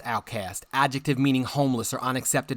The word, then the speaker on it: OutKast: OutKast, pronounced outcast.